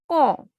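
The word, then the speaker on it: quand: Qua is pronounced as ka, and the word is con, con, when.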